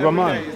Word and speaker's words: Rahman: Sorry, how do you pronounce it? Rahman.